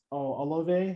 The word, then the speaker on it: Olave: So we got Garrett Wilson, we got Chris Olave.